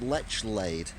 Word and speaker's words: Lechlade: I did buy a Dr Pepper diet, and they told me it's pronounced Lechlade, so I was doing it wrong.